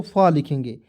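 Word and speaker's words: full: अब समझिएगा, देखिएगा एफ होता है दोस्तों फ लिखेंगे, यू है तो उसको उच्चारण ऊ, यहाँ पे छोटा ऊ की मात्रा एल से ल, तो क्या हो जाएगा फुल, और एक एल को सभी में साइलेंट कर दो।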